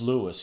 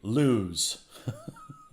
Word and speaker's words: Lewes: Pronounced Lewis, yeah. Even though you'd think it would be Lewes. It's French, it's Louis.